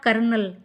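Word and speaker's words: colonel: ये है हमारा कर्नल। सोच लीजिए कि कितना डिफरेंट है इसका प्रोनंसिएशन और स्पेलिंग।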